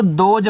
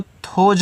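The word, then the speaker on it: those: टी एच ओ एस ई तो देखो इसको दोज पढ़ते हैं। इसको थोज मत पढ़िएगा।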